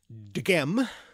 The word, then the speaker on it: dhghem: I don't think it's certain, but that root is the difficult to pronounce dghem, D-H-G-H-E-M. So if you can aspirate a D before an aspirated G.